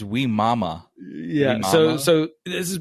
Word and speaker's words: Wimauma: about today um mo how do you say that city name we mommy or we mama we're moral really we really should ask there's two m's in there so it's we mama yeah so so this